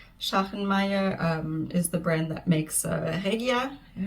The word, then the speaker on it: Regia: Schachenmeier is the brand that makes Regia. And the German pronunciation would be Regia. I think a lot of people say Regia in English.